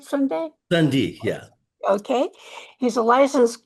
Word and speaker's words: Sunde: Am I pronouncing that right, Sunde? Sunde, yeah.